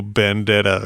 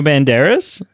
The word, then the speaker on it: Banderas: Is not the same as Antonio Bandera or whatever his name is. Antonio Banderas?